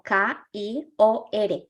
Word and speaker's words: kior: es el lavacro sí lo podemos pronunciar como k i o r kior el kior es la